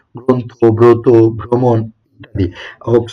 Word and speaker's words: গ্রন্থ: যেমন দেখো এখানে তুমি দেখতে পাচ্ছ গ্রন্থ। এটা আসলে কি? গ্রন্থ। এর উচ্চারণটা কি হবে ভাইয়া?